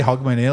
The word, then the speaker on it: Hogmanay: Mate, he I says, just say Hogmanay, like it's H-O-G, I think.